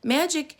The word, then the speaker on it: magic: grade and could read magic has a soft g like jim and a hard c like cup she said now i will